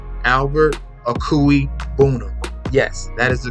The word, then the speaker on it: Okwuegbunam: All right, Albert Okwuegbunam.